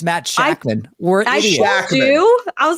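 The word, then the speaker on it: Shakman: the K oh my God we wrong it's Matt shackman we're IDI I was like there's no end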